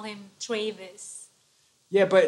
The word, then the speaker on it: Travis: the voice introducing me they'll mispronounce my name the people from they'll say Traves or something weird I can't even sound like them it's so messed up they say Travis and uh instead of Travis even like the other